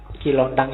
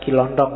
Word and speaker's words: Kilontang: Kilontang ini waktu diinterogasi antara lain yang diucapkan itu, bukan Kilondong ya. Kamu ngertinya Kilontong.